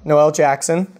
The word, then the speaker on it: Noelle Jackson: live all right so I'm here with Noel Noel Jackson am i pronouncing it correctly yes that's right okay no